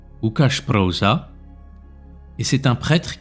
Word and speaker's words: Łukasz: Alors en polonais, on prononce Łukasz Proza.